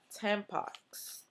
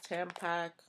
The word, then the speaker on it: Tampax: And I bought Tampax. Tampons, Tampac.